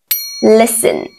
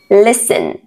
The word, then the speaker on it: listen: column column s n letter T is silent fast fasten listen listen s d e letter